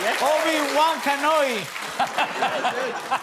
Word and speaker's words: Obi-Wan Kenobi: Guillermo knows how to pronounce my character's name better than I do. Yeah. Obi-Wan Kenobi.